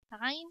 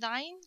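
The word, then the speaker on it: ع: Don't pronounce Ayn like Alif. Don't say Ayn. Say Ayn. Okay, this is the letter Ayn.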